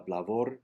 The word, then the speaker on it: blavor: Guaitant del fons de la blavor liuniana. Guaitan, the last T is silent. Guaitan dal fons de la blavo. The R is silent.